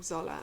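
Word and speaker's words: Xola: and this yarn from Zola and Zola is spelled with an X by the way x o l a let's see the they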